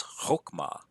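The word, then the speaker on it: חָכְמָה: will judge with wisdom this is Hoke MA this is a short oh and I know that because I have a an unaccented syllable here and it's closed that says silent schwa and so I know that an unaccented closed syllable will have a short vowel so this is a short oh and that along a so it's Hoch ma I also happen to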